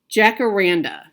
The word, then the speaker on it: Jacaranda: This is Jacaranda. Jacaranda. Hopefully I pronounced that right, Lynette. Jacaranda.